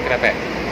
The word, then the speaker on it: krepek: Krepek, ini bukan keripik bacanya, tapi krepek.